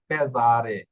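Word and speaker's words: pesare: হ্যাঁ, এই যে আ এবং ই দুইটা ভোকালের মধ্যে পড়েছে এস অক্ষর, এই জন্য এটা জ্বর উচ্চারণ করবে, এটা হবে পেজারে। এরপর এস অক্ষর, এস অক্ষরের উচ্চারণ জয়ের মতো আরো একটা নিয়ম হয় দেখুন।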